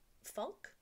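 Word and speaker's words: Funke: called pirate girl by cornelia funk i think is how you say her name it's f-u-n-k-e but pirate girl is about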